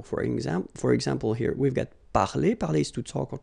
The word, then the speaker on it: parler: So infinitive parler. So if you remember, we saw that previously. So I mean, this combination of two letters at the end of the words normally gives the sound e. Okay, parler, and then past participle, participe passé, parler.